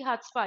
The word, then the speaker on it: chutzpah: Correct answer is option C, हट्सपा. यस, द सी is going to be silent here. We pronounce it एज हट्सपा.